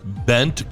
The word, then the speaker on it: Bengt: Bent Gustafson. Yes. Yes. 1984, Washington Capitals. Bent is spelled Bengt.